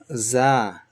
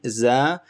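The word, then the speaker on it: زاي: Think of this as the sound when a honeybee, a bee makes zzz, buzzing sound, buzz. So when you say buzz, your tip of your tongue touches the bottom of your lower teeth and where the gum meet. So right here, zzz, buzz. So this is Za.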